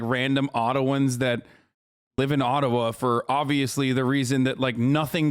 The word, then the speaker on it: Ottawa: and we're gonna let the mayor of ottawa or atawa as it's correctly pronounced in the gibboa explain why peaceful